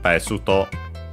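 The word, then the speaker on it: ベスト: Besuto, accent on the first syllable.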